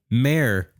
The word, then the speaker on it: mayor: that's a man mayor there's not two syllables in that word mayor they do you see how you put two syllables in there no mayor mayor mayor all right